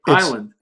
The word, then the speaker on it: Hiland: Well, see, but for our listeners, it's correctly Hiland. Hiland.